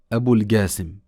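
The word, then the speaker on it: أبو القاسم: Alayhi Salat wa Salam Abu Al Qasim. Et on peut également dire en arabe Abu Al Qasim parce que le Qaf peut être prononcé Ga.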